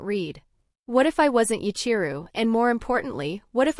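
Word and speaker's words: 八千流: And the name isn't pronounced Hasenryu. It's read as Yachiru. Huh? It's read as Yachiru, not Hasenryu. Technically the meaning is the same, but that's the Chinese reading.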